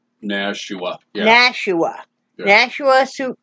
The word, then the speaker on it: Nashua: Nashua? Nashua.